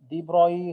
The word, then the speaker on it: de Broglie: De Broglie, because this is a French word.